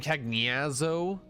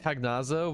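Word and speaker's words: Cagnazzo: Rec acquire kagano cooperation that's how you say his name kago not Kazo but kago yeah like a [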